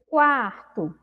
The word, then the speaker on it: quarto: Quando eu pronuncio quarto, eu consigo perceber o som da letra U? Eu consigo, né? Então, eu consegui, né? Na palavra quarto, eu pronunciei o U.